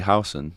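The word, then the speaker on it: Huijsen: It's actually House. That's how he likes it pronounced.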